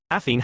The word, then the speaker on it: Athene: Athene has 3 syllables, Penelope 4, here 2.